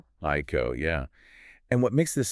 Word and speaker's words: Hico: We're focusing on the redevelopment of the Lake Haiko property in Jackson. And just for clarity, it's pronounced Haiko. Haiko.